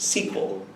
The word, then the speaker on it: SQL: programmer if they say SQL is pronounced sequel which is funny because